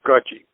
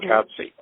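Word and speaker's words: Katsi: A Indian woman by the name of Gudgy Cook, still alive, spelled K-A-T-S-I, but pronounced Gudgy, not Katsy.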